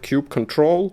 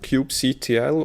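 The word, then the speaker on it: kubectl: dead meat already but how do you pronounce cube CTO we've heard cube control cube CTL or coop cattle personally we like calling it cube cuddle because it's just as fluffy as the clouds we are deploying to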